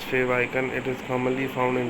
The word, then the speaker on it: favicon: which represents your website the word favicon is pronounced as fave icon it is commonly found